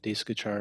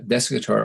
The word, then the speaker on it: Desikachar: initial meeting with uh desk guitar or daishi guichard is probably how you correctly pronounce it was um uh at